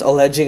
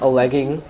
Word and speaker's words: alleging: instead of being knowledgeable except alleging happens to be one of those words that the english speakers have decided will be pronounced alleging and not a lagging even though the spelling is that of a legging right yes go ahead